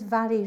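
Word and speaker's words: Mhairi: So my name is Vary. Vary is spelled M-H-A-I-R-I, and I'm a senior stop smoking specialist with Smoke Free Hull.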